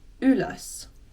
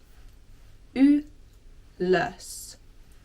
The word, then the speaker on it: ylös: The first word I want to go over is a bit of a tricky one to pronounce. Ylös. Ylös.